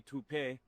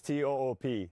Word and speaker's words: Toop: Uh Maybe Toop-ay? Could be Toop-ay. Yeah, I don't know. Or Toop Insurance? Maybe? No, I don't think so. Say it right. That's T-O-O-P. That's Toop.